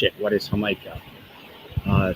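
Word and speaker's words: jamaica: Uh ham is um What is hamaha? Uh starts with a J too because they pronounce that with an H. Hikah is hibiscus.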